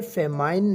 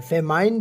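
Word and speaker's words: famine: हम फैमिन कहते हैं फैमिन याद रखें इससे आपने फैमिन प्रोनाउंस करना है यह फैमिन नहीं है फैमिन बिल्कुल गलत है ये फैमिन है फेम फेम किसी इलाके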